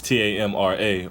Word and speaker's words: Tamra: if it's Tamra is TA MRA or I believe it spelled T up I believe it felt like Tamara but they pronounced her name Tamra so I'll understand how